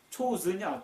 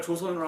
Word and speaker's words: 조선: 그러면 영어로 말하면 초우슨이야. 초우슨. 초선이야. 초선. CHOSUN. 그러면 우리나라 조선으로 하면 대충 발음하면 초우슨 이렇게 추수 뽑다. 초우슨 뽑히다. 그러니까 초우순, 우리나라는 뽑힌 민족 뭐 이렇게 생각하는 거예요. 아예 우리나라는 조선이요, 조선. 초우순이 아니에요.